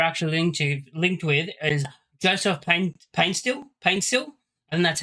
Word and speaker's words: Paintsil: Another player we were actually linked with is Joseph Paintsil, and that's how you say it.